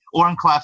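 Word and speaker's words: Oren Klaff: there's a great book called Pitch Anything by Oren Clef is how you pronounce it.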